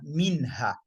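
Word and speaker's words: منها: Minha. The nun is pronounced completely from beginning to the end. Minha. Min hadha rashada. Surah Al-Masad. Ma aghna anhu. Anhu. The nun is pronounced to the end.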